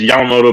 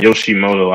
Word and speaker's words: Yamamoto: He didn't even know how to say his name. He used to call him Yoshimoto Yomimoto. instead of Yeah. it's Yamamoto, but he used to call me Yoshimoto.